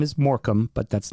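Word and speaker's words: Morecambe: on an American Highway and moromi is spelled the same suffix yep moram it's moram and they have a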